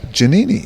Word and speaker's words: Giannini: back with them and that's where I realize it's jhemini and you nailed it because that's how the italians pronounced it and I did say